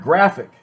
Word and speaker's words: graphic: is spelled pH but pH is pronounced like an F in English like in the word phone pH o in E